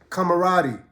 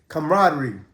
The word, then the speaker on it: camaraderie: just out there just you know building a camaradi uh how do you say that camaraderie sorry I'm still a fob you know my